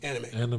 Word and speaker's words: anime: Anime.